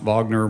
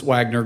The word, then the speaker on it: Wagner: about uh you know I believe is pronounced Wagner but I believe the media pronounces Wagner group all the time I